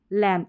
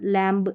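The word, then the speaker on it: lamb: Baum, com, टॉम, डम, लैम्ब, इस तरीके से पढ़ना है। Bomb, comb, tomb, dumb, लैम्ब, इस तरीके से नहीं पढ़ना। B को आपको प्रोनाउंस ही नहीं करना है, साइलेंट है यहाँ पर।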